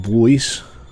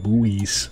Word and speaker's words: buoys: I want to make some buoys. I can never pronounce that word. Buoys. Buoys. Like the British pronounce David Bowie.